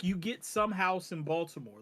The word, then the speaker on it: Baltimore: Although like you get some house in Baltimore.